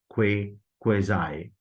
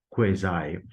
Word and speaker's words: quasi: And after Z sound, there comes I, occurs in dive, cry, and mind. Resultantly, we will pronounce it as quasi, quasi.